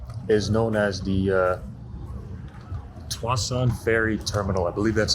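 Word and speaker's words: Tsawwassen: this right here is known as the uh twice on ferry terminal i believe that's how you pronounce it and uh it's home to the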